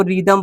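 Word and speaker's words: rhythm: आर एच वाई टी एच एम, इसको रिदम पढ़ते हैं।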